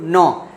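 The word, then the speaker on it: gnaw: तो इसके अगर मैं सिनोनिम्स की बात करूं तो रैंकल, केव, ब्रीव, नॉ, इसमें जी साइलेंट होता है, इसको नॉ पढ़ते हैं।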